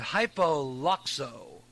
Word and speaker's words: Hypoluxo: Now, this is according to a report from Florida, but it comes out of, I can't even pronounce it, Hypoluxo, because that's how you pronounce it.